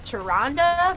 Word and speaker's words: Tyrande: So like, I believe that it's Tyrande, but like in my mind, she's Tyrande. Like I have a really hard time saying Tyrande.